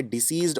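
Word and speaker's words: deceased: इनके उच्चारण में थोड़ा सा फर्क है, डिसीज्ड और डिजीज्ड। ज साउंड आता है इसमें। इसकी आपको प्रैक्टिस करनी पड़ेगी इस तरह से बोलने की, जिससे आपका उच्चारण सही हो सके।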